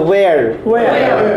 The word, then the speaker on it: where: আমরা কি হয়ার বলবো না? হয়ার হয়ার হয়ার হয়ার হয়ার প্রম না হয়ার না উচ্চারণ হবে ও আমি আপনাকে বলছি এটা কি অ না ও বলুন তো দেখি ও তাহলে ওয়্যার ওয়্যার ওয়্যার আর you from আপনার আল্লাহ থেকে